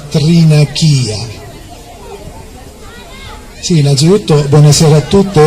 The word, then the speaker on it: Thrinakìa: Il nome mi ha molto colpita, a dire la verità, perché non è Trinacria, si chiama Trinachia.